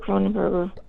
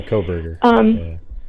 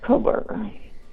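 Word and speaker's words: Kohberger: But I just got tired of Cronenberger. I'm not saying it right. Yeah, Koberger. Koberger. But anyway.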